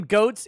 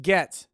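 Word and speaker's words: Goetz: 18 grand a month the name goats is pronounced gets not in this house it's not mr spears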